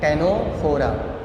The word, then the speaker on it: Ctenophora: यहाँ पे भी देखो सी साइलेंट है, इसका प्रोनाउंसिएशन क्या है, टेनोफोरा।